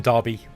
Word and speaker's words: Derby: pronounce that Derby but it's pronounced derby with an a like with an a sound and uh yeah so